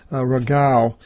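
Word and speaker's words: Ῥαγαῦ: Ke ezise phalek triaconta ke ekaton eti, ke agenise ton ragav, and that is pronounced ragau in the New Testament. In the Old Testament they used reu in the King James.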